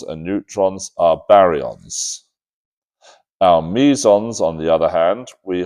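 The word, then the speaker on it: meson: Barons and you've got mison. So mison are one type of hadron and barons are another type of hadron. Sometimes mison pronounce maison. I don't like that.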